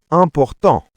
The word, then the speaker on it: important: In French, it's important. The T is silent. Important.